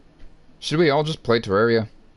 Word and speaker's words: Terraria: bad juju ah yes Terraria should we all just play Terraria not terrari Terraria and ter is spelled just one R uh then the Red